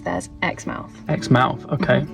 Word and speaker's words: Exmouth: Well, in the UK we have place called Xmouth and we pronounce it Xmouth, but it's spelled the same. In Australia, they pronounce theirs Xmouth. Xmouth. Okay. More like how it's spelled then.